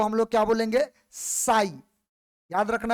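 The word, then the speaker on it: psi: Type का, तो इसमें पी क्या है? साइलेंट है। पी का उच्चारण नहीं करना है, इसका उच्चारण करना है एस आई का।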